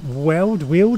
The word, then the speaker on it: Weald: So we're in the Kent Weald, I'm not sure how you pronounce it. Kent World. Kent Weald. We're in Kent World, yeah. That's how you pronounce it.